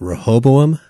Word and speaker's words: Rehoboam: Like, if you listen to the way Sirach says it, where he puts the emphasis on the second syllable of Rehoboam, that's apparently the more correct way to say it.